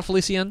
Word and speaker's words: Felicien: Felicien, right? yeah. Felicien? Yeah, you said it right.